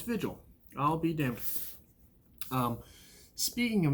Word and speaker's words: Vigil: the next chapter i will have no it's vigil i'll be damned speaking of mispronunciations that will become a common thread throughout